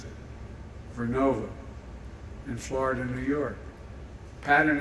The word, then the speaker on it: Vernova: going to go into turbines made by GE Verona excuse me I mispronounced it vernova in Florida New York pattern energy will use